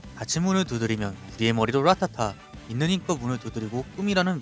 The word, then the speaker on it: Rat A Tat: 제목이 특별하게 띄어져 있어서 무언가 읽는 법이 있는 게 아닌가 하시겠지만 그냥 붙여서 라타타라고 읽으면 됩니다.